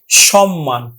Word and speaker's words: সম্মান: কুটমল last কি আছে যে ম এর সাথেও যদি মফলা থাকে তাহলে মফলার উচ্চারণ বজায় থাকবে যেমন দেখো সম্মান আমরা উচ্চারণ করব কিন্তু সম্মান মান আমরা উচ্চারণ করছি সম্মান পাঁচ নাম্বার নিয়ম হল